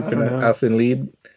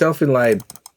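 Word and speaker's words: Elfen Lied: talking about I think I think you are pronouncing it wrong it's Elfin light l lead line oh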